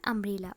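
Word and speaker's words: umbrella: यू से start है, but student जब इसका प्रोनाउंसिएशन करेंगे तो आ से हो रहा है, ओके।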